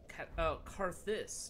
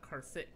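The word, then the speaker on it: Carthus: Karthus, not Karthik. Oops. I've been saying it wrong this whole time.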